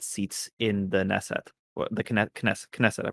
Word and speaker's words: Knesset: The Knesset, I pronounced that correctly, right? Knesset, right?